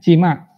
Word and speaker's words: CIMA: bahasa Indonesia namanya akuntan ada yang saima kalau bacanya Cima Cima itu certified certified International management accountant itu